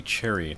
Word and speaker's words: Cherry: near all the time no it's lady cherry not lady sherry i don't know why i guess that's how it's spelled french of you john